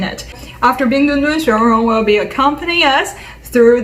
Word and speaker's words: 雪容融: It's called as 雪容融雪容融. So these are the correct Chinese pinyin way, and we have also seen the English spelling right here.